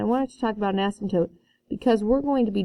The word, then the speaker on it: asymptote: t that is pronounced asymptote asymptote the p is silent so an asymptote what